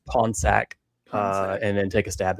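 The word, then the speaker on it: Pornsak: The writer for Absolute Green Arrow and for Absolute Black Canary his name is spelled Pornsack, but he pronounces it Ponsack.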